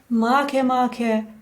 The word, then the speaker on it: Makemake: Let's start with the pronunciation of this little devil. It's not Make Make as it would be convenient for us.